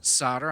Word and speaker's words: solder: dude just to the solder joints and I do call it solder I'm like volt are who calls it solder he pronounces the L which is a very euro thing to do but the kit is